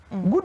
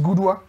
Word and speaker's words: Gudu: If you go to Gudu, Gudu is not Gudu, Gudu is Gudwa.